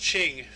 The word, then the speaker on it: Qing: capital of thang long it's actually pronounced qing uh yeah i don't know why but yeah q ing is qing so well i don't